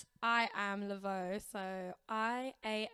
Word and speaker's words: Lavaud: Um, it's I am Lavo. So, I A M L A V A U D, but it's pronounced Lavo.